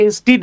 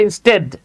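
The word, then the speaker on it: instead: বলেন আমরা অনেকে এটাকে ইনস্টিটি বলি ঠিক আছে এটা কিন্তু ইনস্টিটি না এটার উচ্চারণ হচ্ছে ইনস্টেড ইনস্টেড নট ইনস্টিড হ্যাঁ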